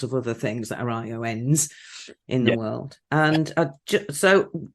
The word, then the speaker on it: ION: I am, since a few weeks, the global lead of ION Institute of Neurodiversity. So it is spelled ION, but we do say ion as in the molecule, like the smallest that you can be positively and negatively charged.